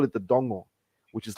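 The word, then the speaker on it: dogo: just surrounded by mangroves we call it the Dongo which is like this black Mangrove swallows what are you pronounce it again it's it's d-o-g-o but it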